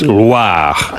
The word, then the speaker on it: Loire: Oh, I didn't Not roll the Loire. R. It's not LWA. Oh, It's Loire.